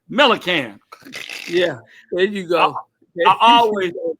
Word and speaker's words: Millic: you sure are you you pronounce it just like it's spelled can melan yeah there you go